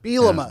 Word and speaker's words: Bielema: Bielema.